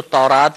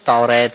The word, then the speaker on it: تورات: مشہور ہیں، تورات، زبور۔ تورات کو تورات بھی کہتے ہیں، توریت بھی کہتے ہیں، دونوں تلفظ درست ہیں۔ تو توریت، زبور، انجیل